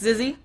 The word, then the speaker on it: Zizzy: I try to ask the players how to say their names, and I've been told it's Zizzy. Zizzy hasn't actually sent me a sound file. The Europeans send me sound files, because apparently I can't pronounce words in Swedish, but Zizzy hasn't. Zizzy's just like, whatever, it's Zizzy. Either way, they're doing good